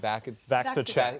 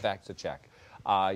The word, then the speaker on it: VacciCheck: VacciCheck. VacciCheck.